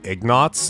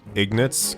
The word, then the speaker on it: Ignatz: two nice I know everyone calls him Ignatz like they pronounce it like knots but I always say Ignatz cuz it's just I don't know rolls off my tongue better doesn't seem to bother